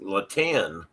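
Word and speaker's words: La Tène: Um and that word up there is pronounced laten and I I looked that up and and had that pronounced correctly.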